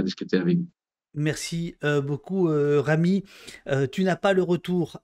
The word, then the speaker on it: Rami: prononciation Rami comment Rami il faut rouler le r Rami bien bon mais c'est